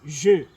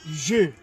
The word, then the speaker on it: je: Right, we're gonna start with the first one, je. It is not je, because most of the English speakers would rather say je. It is not je, it is je. Okay, that's how we pronounce it, je.